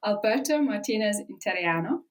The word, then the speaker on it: Alberto Martinez Interiano: I'm joined by newly certified Italian wine Ambassador Alberto Martinez interiano I hope I said that correctly welcome to